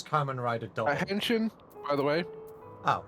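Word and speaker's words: Kamen Rider W: That is Carman Rider W just pronounced double. So it's common rider double hension by the way.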